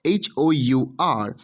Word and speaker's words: hour: in case of our h-o-u-r the h at the beginning of hour is silent so the sound becomes our hence we need to